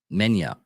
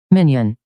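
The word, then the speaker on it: minyan: Menya. Let me get this right. Stephen Hawkins, please help me out on this one. Minion.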